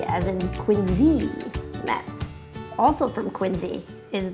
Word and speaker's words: Quincy: be spelled with a Cy but it is pronounced by the locals here and Z as in Quincy Mass also from Quincy is the American coffee